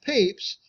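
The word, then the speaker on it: Pepys: right so since the Diary of Samuel peeps pronounced peeps anytime we have explanation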